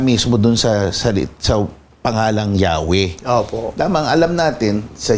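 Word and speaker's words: Yahweh: 'Yung Adonay naman, Panginoon ibig sabihin opo kinuha yung mga patinig o tunog patinig din ng Adon inilagay doun sa YHWH kaya eventually yun yung universally accepted na pronunciation eh Yahwe dahil nga isinal naman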